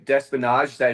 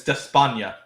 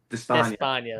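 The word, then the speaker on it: Despaigne: Yeah, I mean, okay, Despinage. Is that how you say it, JBC? It's Despania. Despania, there you go.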